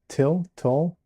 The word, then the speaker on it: tulle: A tulle. I don't know how I don't know how to pronounce that. Tulle? Yes. Tulle? Kind of like toll road, only more you sounding.